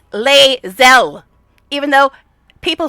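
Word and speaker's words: Lae'zel: But it's Leel. I don't even like this character that much. And I know how to pronounce her damn name.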